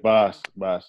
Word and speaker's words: Bas: I mean, I know that for a while that is it Boss or Bass? Is how you say it? Yeah, Boss.